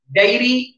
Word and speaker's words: diary: Coming to diary, dairy, slight difference in the pronunciation.